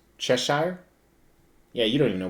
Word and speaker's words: Cheshire: on top of the chest sire how's it pronounced cheshire yeah you don't even know what it is